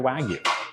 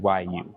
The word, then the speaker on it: Wagyu: Y'all still say the wagu wag. How do you say it? It's w a gu yu. Wag you.